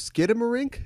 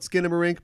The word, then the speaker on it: Skinamarink: it is spelled see I always thought it was Skidamarink but it's spelled Skinnamarink perhaps maybe to avoid if somebody is copyrighted or trademarked get him a ring so it's with an N it's by a director